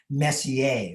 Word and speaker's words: Messier: about this messier person it's actually pronounced more like messier my french is not